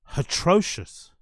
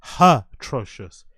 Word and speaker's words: atrocious: like as a joke he's actually pronouncing atrocious with a h one more time and